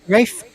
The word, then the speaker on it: Rafe: That's the way Yeah, Ralph it's is spelled. Ralph. Yeah, it's That's Ralph. that's correct, but Ralph it's Fiennes. pronounced. It's What's pronounced wrong with Reef. Rafe Fiennes? Yes, there Rafe you go.